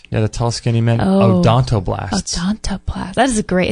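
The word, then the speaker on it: odontoblasts: know it's like a how do you spell that word like He-Man um o d o n t o b l a s TS just like it sounds oon o blast blast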